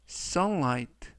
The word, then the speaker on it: sunlight: 피어 있다라는 뜻이 되겠습니다 이번 표현은 sunlight sunright somewhite라고 발음하시면 되겠고요 이때 끝부분에 있는 gh는 이번 단어에서 묵음이라서 발음이 되지 않습니다 품사는 명사 뜻은 햇볕